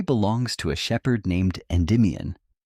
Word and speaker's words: Endymion: The story belongs to a shepherd named Endmian. Say the name slowly, the way the old tellers would have. Four soft syllables. N demon.